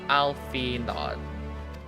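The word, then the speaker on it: Alphinaud: It's not pron like Arnold. It's not pronounced Arnold now. Alfod.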